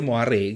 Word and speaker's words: moire: kalian tahu moare ya jadi tulisannya itu moire m o i r e tapi ini bacanya moare gitu front kayaknya bahasa Prancis di mana Oi dibaca oa dan moare ini sebenarnya